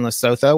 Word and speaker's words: Lesotho: primary license being in lesotho which is the picture that you see behind me um is the plants that are there that's actually in lesotho or they pronounce it lesotho if you're unfamiliar where